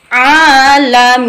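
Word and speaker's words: العالمين: Nah, makanya pengertiannya adalah ketika ada mat bertemu dengan huruf apapun yang disukun karena waqaf, yang dimatikan karena waqaf, maka dibaca mati. Alamin, boleh panjangnya 2 ketukan, boleh 4 ketukan, boleh 6 ketukan, atau boleh 1 alif, 2 alif, atau 3 alif.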